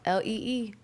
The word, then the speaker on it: Leigh: Lee Jeans, Lee.